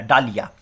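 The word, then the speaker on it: dahlia: এইচ এল আই এ এখানে মাঝখানে কিন্তু একটা এইচ আছে কিন্তু উচ্চারণটা কিন্তু হয় না ডালিয়া ঠিক আছে তাহলে পাঁচটা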